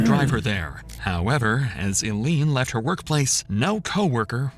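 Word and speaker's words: Ilene: Is it Eileen? Oh, it is. I've never seen it spelled like that.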